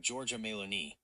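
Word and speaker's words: Giorgia Meloni: Her name is Georgia Melon. It's pronounced like Georgia Melon.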